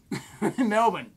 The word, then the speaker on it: Melbourne: te vas Chris: Si, viajo a Melbourne Dave: Melbourne (Dave corrigiendo la pronunciación) Dave: Genial, esto es todo Chris: gracias